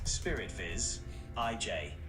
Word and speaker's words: Spirit Visage: It's pronounced Spirit Viz, IJ.